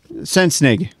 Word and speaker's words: Sensig: It's pronounced Sense uh Sensig.